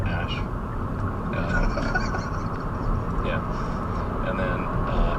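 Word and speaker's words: Æ: Ela musk's kids withes the AE is like pronounced Ash um yeah and then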